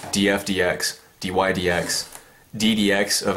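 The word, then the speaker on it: dF/dx: to X and uh it's not pronounced DF over DX so some people say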